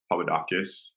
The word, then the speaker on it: Papadakis: I've listened to a lot of, Justin Papadakis. Am I saying that right? Please tell me I'm saying that right. You're saying it right.